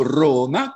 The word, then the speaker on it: Roma: meraviglia meraviglia perché io adoro roma con la o chiusa e adoro la figlia